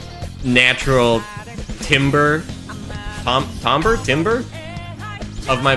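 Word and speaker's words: timbre: Zoom in music tim tim tim timber timber. It's just timber.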